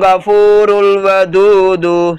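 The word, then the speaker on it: ٱلْغَفُورُ ٱلْوَدُودُ: இழுக்கணும், தூ சாதாரமா, ஹுவல் கஃபூருல் வதூது சொல்லுங்க, ஹுவல் கஃபூ கொஞ்சம் இழுக்கணும் ஓகேங்களா, உவல் கஃபூ அப்புறம் ரூல் ஒரு ரா பக்கத்து அலிஃப் சைலண்ட், ரூல் வ து கொஞ்சம் இழுக்கணும், அதுக்கப்புறம் வர து வந்து சாதாரணமாக சொல்லணும் ஓகேங்களா, உவல் கஃபூ ரூல் வ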